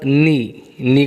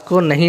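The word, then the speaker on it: knee: यहाँ पर के जो है, के लेटर, ये खामोश लेटर है, साइलेंट लेटर है। कैसा लेटर है? Silent letter. यहाँ पर हम के की आवाज़ को नहीं निकालेंगे, उसको नी पढ़ेंगे, किनी नहीं पढ़ेंगे, बल्कि हम क्या पढ़ेंगे? नी पढ़ेंगे।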